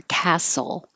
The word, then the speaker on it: castle: are too costly and the same for Castle the TL forget the t is just skip it you don't have to say castle Castle a haunted castle